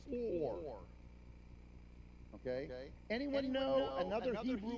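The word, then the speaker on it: עור: word for skin by the way is it's pronounced or okay anyone know another Hebrew word that's pronounced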